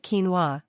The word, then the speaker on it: quinoa: farmed for its nutritious seeds this common staple pronounced quinoa has been farmed in South America for countless